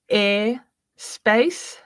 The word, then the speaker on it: Eir.Space: My husband uh tries to pronounce your name regularly, which I think is funny, but I want to say air space. Yeah, airspace.